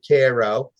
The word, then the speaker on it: Cairo: should be called Cairo uh they call it Cairo south of us there's a Haiti that we